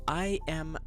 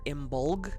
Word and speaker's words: Imbolc: It's spelled I-M-B-O-L-C, but it can be said Imbolc or Imbolg. It depends on what culture you're reading about as to how it's stated.